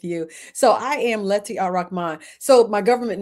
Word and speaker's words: Ar-Rahmaan: beautiful, the wonderful Lettie Ar-Rahmaan. And we are laughing because she told me how to pronounce her name. And she said, just remember, all right, man.